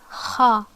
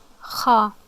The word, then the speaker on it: خاء: الخاء, so it's pronounced kha, kha. Okay, how to pronounce it? The sound occurs as if you are making a grunting noise within the throat, while air moves from the upper throat to the mouth.